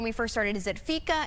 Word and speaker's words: fika: first started, is it Fika? Is it Fika Fest? Because some I saw different pronunciations. Yes. But pretty much it has a cute little meaning, Fika. Yeah, so Fika is a Swedish tradition.